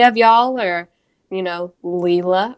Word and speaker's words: Leela: y'all or you know leela or layla as you say it is wrong leela that spelled different leela